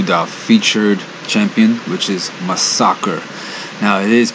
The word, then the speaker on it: Masacre: one in this case this champion's name only has one s in it so it's pronounced my soccer now my soccer does